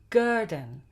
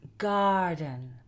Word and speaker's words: garden: In words like garden, garden, it's not garden and it's not Gurdon, it's garden.